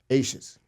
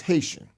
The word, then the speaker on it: Haitian: all the asan people ases ases right no that's not how you pronounce it's Haitian or as I was telling Big John C earlier I ha right Haitian or silent h silent h right so yeah so that